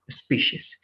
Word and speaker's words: species: in terms of pronunciation in that c like species right it's not like but it's going to be like sh yes exactly species the other one a